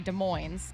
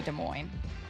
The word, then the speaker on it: Des Moines: are locals, and yet I say Des Moines, and you and Matt say Des Moines. Right. Which I think is weird. Because it's a French word.